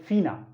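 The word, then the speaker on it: FINA: world organisation होता है उसको बोलते हैं फीना एफ आई एन ए लेकिन बोलते फीना है लेकिन इसको प्रोनाउंस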